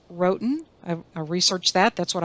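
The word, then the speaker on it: Roatán: or presentate a presentation on and this is pronounced Wroten I researched that that's what I found rhoten um Honduras one of the featured tours of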